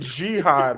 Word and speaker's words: Jihad: That you said jihad. Like what? He said jihad. Bro, your pronunciation is off.